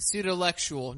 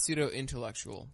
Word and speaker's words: Pseudolectual: So, my show is the Pseudolectual, not pseudo-intellectual. I think I always say pseudo-intellectual. Yeah. So Also, let me try. Pseudolectual. yeah, I just made your life easier. Minus one syllable.